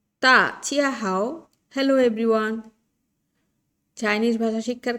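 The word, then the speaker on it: 大家好: পেরেছেন তা চিয়া হাও ডি কে এখানে থ প্রোনাউন্স করা হচ্ছে থ বাংলার থ উচ্চারণ করা হচ্ছে ডি কে ডি কে কখনো দ ক কখনো থ উচ্চারণ করে ডি কে চাইনিজ ভাষায় কখনো ডি উচ্চারণ করে না তাহলে এটা হচ্ছে তা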